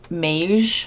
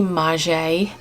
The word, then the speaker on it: Maje: how to pronounce it i called it mage i think in my last video in my last haul video but it's actually maje it is a size